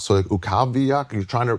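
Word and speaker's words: Utqiagvik: So Ukaviak, you're trying to pronounce it. It's not written easy to And then you just go, I'll just say Barl. They go, it's UK Vag.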